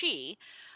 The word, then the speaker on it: Qi: And the idea of key is, or a lot of people, when they see QI, it's pronounced chi, um, but I pronounce it key.